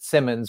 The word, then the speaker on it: Simonds: R Simons it's it's we pronounce it Simmons but it's spelled Simons s i o n